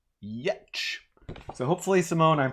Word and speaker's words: Giertz: It's made by Simone Yetch, and Simone's name, last name, she's Swedish, is spelled Giertz. And from what I understand, it's pronounced Yetch.